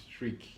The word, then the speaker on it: Struijk: STRUIJK. Struik. The J is silent.